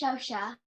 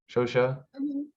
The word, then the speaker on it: Shosha: I'm sorry I don't I remember it's pronounced shosha ShoSho yeah thank you I